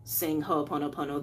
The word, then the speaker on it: Ho'oponopono: kind of fast, so to break down that word a little slower, because you can see it in the title how it's spelled. Ho'oponopono, ho'oponopono.